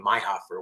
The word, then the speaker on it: Meihoefer: feel free to reach out to me myher as it's spelled I don't know if they could see my name but it's uh and then my last name my Hofer which is spelled meih h o e f is in